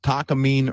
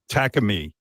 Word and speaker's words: Takamine: pronounced Takamine or That's it. Takamine. Takamine.